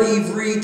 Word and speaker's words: Ivri: And one who is a Hebrew is pronounced in Hebrew, Ivri.